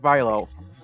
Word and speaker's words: Milo: Just hearing of just mispronouncing my name is my pronunciation is Milo.